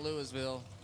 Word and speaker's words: Louisville: Louisville it ain't Louisville it ain't Louisville it's Louisville that's where I come from that's how you say it Terry hul and Gary